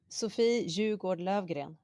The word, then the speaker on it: Sofie Jugård Löfgren: How do you pronounce it? Sofie Jugård Löfgren.